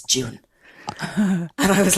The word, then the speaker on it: Juan: and she goes well she said it's spelled ju UA an and H we would say Juan but he swears it's June and I was like